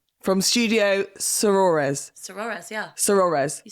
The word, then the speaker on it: Sorores: Sorores.